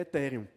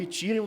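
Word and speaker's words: Ethereum: Tem tem tantas discussões sobre pronúncia, eu prefiro falar etheréum porque a rigor etherum também tá errado. Eu tererei que pronunciar a palavra toda em inglês.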